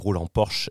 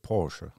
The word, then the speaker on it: Porsche: Alors, première remarque, la prononciation en allemand est mauvais. C'est Porsche.